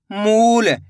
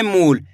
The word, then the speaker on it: मूल: तो मिलके बन जाएगा मूल। इसी तरीके से आपको खींच के पढ़ना है मूल। ऐसे नहीं पढ़ना मूल। अगर आप मूल पढ़ दोगे तो छोटू उ की मात्रा का उच्चारण हो जाएगा।